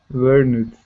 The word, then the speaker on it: learned: So it ends in an N. So what sound should we use for words that end with an N? D. Only D. Okay. And so then how do we pronounce this word that I just typed? Learned. Okay. But you told me it's the D sound.